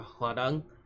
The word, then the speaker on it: Hwarang: Hanjuri or Kim Ga-hwan or Baek To-san or Hwarang. Yes, that's how Hwarang's name is pronounced.